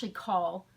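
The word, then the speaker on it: Cathal: I liked KL, which was Call would be the proper Irish pronunciation of the name I was looking at, and that is a mythological warrior.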